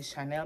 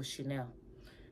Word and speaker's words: Chanel: and we were told to pronounce it as Chanel not Chanel but we get caught up with a massive but we say oh she nailed this oh she nailed that it's Chanel people Chanel but uh just a